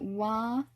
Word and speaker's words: は: other than its name ha is one of the cases in which you pronounce it differently from its name sometimes our impulse is to read it as ha and you should learn it as ha but you also need to learn that in one particular case you're going to pronounce this as well and it's when you're using wah to mark your topic of conversation as in